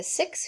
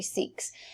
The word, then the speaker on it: Sikhs: new religion of the six who rejected the caste system and recognized people of all religions as children of god it should be sikhs i think that pronounces six but it actually seeks um non-muslims under muslim